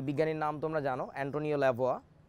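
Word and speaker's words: Lavoisier: সেই বিজ্ঞানীর নাম তোমরা জানো, অ্যান্টোনিও ল্যাভোয়া। তোমরা যাকে অবশ্য ল্যাভয়েসিয়ে নামে চিনো, হ্যাঁ আমি তার কথাই বলছি, আসল উচ্চারণটা ল্যাভোয়া। এই ধরনের একটা উচ্চারণ, আমার উচ্চারণ হচ্ছে না, বুঝতেই পারছো বিদেশি ভাষা।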